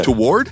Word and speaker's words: toward: Toward? Uh-huh. What's the third syllable? You almost turned it into toward. You just say it like it's T-W-A-R-D, like sword, toward. T-O-R-D. I see.